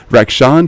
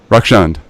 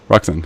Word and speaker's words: Rakshand: bad is it wreck is it wrecks and wreck Shawn how do you pronounce it rocks and rocks and okay great man oh do you have a